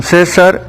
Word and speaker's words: César: Y orar sin César, pues ya con acento en la E, pues implica de alguien que se llama César, que no se les olvide que...